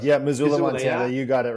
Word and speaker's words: Missoula: And did I pronounce it? Missoula, Missoula, Montana. Yeah? You got it, Robin. Yeah, Missoula.